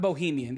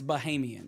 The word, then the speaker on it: Bahamian: So it wouldn't be Bohemian. It's not Bohemian. It's Bahamian.